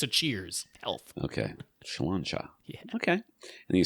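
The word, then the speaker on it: Sláinte: He's all for us sharing our opinions beyond what just home theater and our pronunciation of Slancha. Health. Was perfectly fine. It's a cheers. Health. Okay. Slancha.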